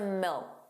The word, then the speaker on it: milk: The final K sound, that C was not pronounced. It was just a milk. Milk. So you put your your tongue in the position of a K. Milk. But you just don't push out that sound.